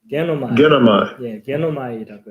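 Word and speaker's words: γίνομαι: 예, 그래서 그 헬라어 발음은 게노마이라고 해서 하나님의 결정이 그대로 실행되기를 원합니다.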